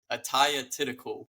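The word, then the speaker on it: Atthaya Thitikul: She's 14-1, and that's Athea Thitikul. I don't know. It was goodness. a tough one. It's let me pronounce it for you. Ataya Thitikul.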